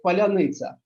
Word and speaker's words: паляниця: Зараз ми говоримо як не калач, як паляниця. А Так. паляниця, росіяни не вимовляють це слово, і одразу можна зрозуміти, чи він українець, чи не українець.